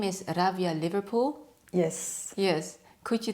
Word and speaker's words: Rawia: Yeah, it's not a V, it's W.